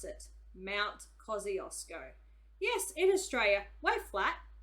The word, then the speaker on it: Kosciuszko: me talking all over things and bold okay Mount Kosciuszko that's how you pronounce it Mount Kosciuszko yes in Australia way flat but it also